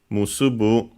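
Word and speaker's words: 結ぶ: Comes from the verb musubu, which means to tie, to bind, to link. Also unaccented as expected.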